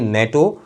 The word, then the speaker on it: NATO: नेटो खुद एक proper noun के तौर पर ट्रीट किया जाने लगा, हालांकि नेटो एब्रीविएशन है, मगर प्रोनाउंस किया जा रहा है एक सिंगल वर्ड के तौर पर, एक सिंगल वर्ड के तौर पर।